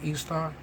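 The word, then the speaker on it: Ishtar: say i see a picture of istar pronounced easter the assyrian and babylonian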